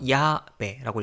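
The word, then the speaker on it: llave: 야베, 열쇠란 뜻인데 얘도 마찬가지로 모음으로 끝났으니까 야베라고 읽고요.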